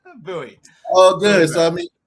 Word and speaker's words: Bowie: i have no idea how to pronounce it so buoy oh good so i